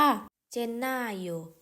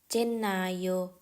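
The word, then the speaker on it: Gennaio: ค่ะ มกราคม เรา จะ พูด ภาษา อิตาลี ว่า เจนนาโย เจนนาโย ก็ คือ เป็น วัน ที่ เฉลิม ฉลอง วัน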